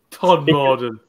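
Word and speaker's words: Todmorden: Weirdly, one of the festivals I love to do is Todd Morden Beer Festival. Todd Morden? Yeah. Todd Morden.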